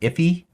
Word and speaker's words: IIFE: Sometimes I think it's pronounced iffy.